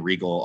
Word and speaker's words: Riegel: quite a few other things um it's regal art uh or actually i'm sorry it's